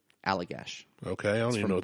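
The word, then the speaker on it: Allagash: Alagash. White. Alagash. Alagash. A L L A G A S H. Alligash.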